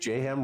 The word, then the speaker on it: J-Ham: I'm your host, J-Ham Rhymes with Mayhem, Executive Director of Counterintelligence Operations.